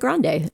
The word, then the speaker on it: Grande: But so rest assured, we agree with you on pronouncing it Grande, and so does the rest of the world. Okay, thank you. Ariana Grande.